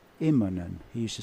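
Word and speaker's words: Immonen: he's very famous for mispronouncing M iman's name what did he say he used to introduce him as MAA inen really instead of imman he used to say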